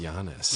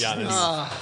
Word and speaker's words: Giannis: It's pronounced Giannis. Giannis.